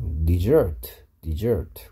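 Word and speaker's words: dessert: 데저 여기를 세게 읽어서 데저트 하면 사막이고요. 여기를 세게 읽어서 디저트라고 읽으면 버리다고요. 그 다음에 버리다 일때 발음이 얘랑 발음이 똑같아요. 디저트, 디저트. 근데 S 하나고요. 버리다 일 때는 S 두 개라는 거.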